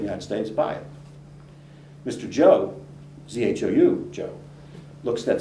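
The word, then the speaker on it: Zhou: Joe, and his name is spelled Z-H-O-U, and he's going to oversee construction.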